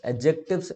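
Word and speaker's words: adjective: एडजेक्टिव्स, एडजेक्टिव में भी D silent होता है तो एडजेक्टिव होता है।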